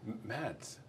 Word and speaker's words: Mads: Did you just call me? Mads. Uh-huh. Did I say it right?